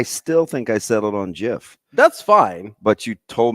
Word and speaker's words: GIF: The G is the hard G.